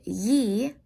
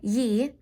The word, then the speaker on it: gli: rainbow, aka the rainbows, that would be ye, like yeehaw without the haw, just ye, as in Y-E-E is how it sounds, but it's spelled G-L-I, ye.